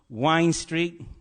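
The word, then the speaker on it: Wind Street: There's a street in Swansea called Wine Street. Actually, it's spelt wind, but it's pronounced locally Wine Street.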